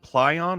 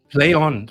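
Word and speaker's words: Plaion: that put it out is it Pon or play on play on play on before it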